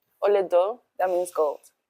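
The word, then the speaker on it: Olaedo: Olodo. Oledo. That means gold. Gold. Yeah, that's my spirit color. No way. What's How do you spell that? Um, is hola and ado. Hola.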